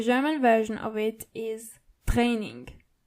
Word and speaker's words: Training: The German version of it is Training. So you only have to roll your R.